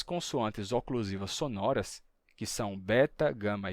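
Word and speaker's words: βήτα: oclusivas sonoras que são Beta Gama e delta ou em grego veta rama Delta certo elas Originalmente lá no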